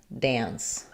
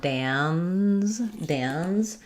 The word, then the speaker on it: dance: So when we're talking about dance, the IPA really is dance. But you don't want a long protracted end there. I don't want dans, because that would be like this word, like the name Dan. That has the Z sound.